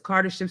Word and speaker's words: Kardashev: a Russian and he okay so I did pronounce it right it's a Carter ship scale it's a hypothetical framework